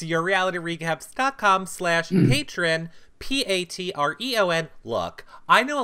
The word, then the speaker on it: Patreon: look I know a lot of people are saying it's patreon now it's always been Patron they called a patron when they came out I'm never calling a patreon to say it the way it's spelled I don't care it's Patron you're all patrons and we